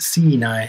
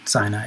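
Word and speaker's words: Siinai: the how you pronounce the band well they pronounce it sinai so that's how i pronounce it because it's their band but yeah it's just how the fins pronounce sinai c9 c9 and you did a couple of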